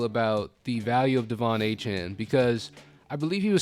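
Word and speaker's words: Achane: Chan almost at 18 but that is not how it's pronounced anymore it's a Chan uh eight for 101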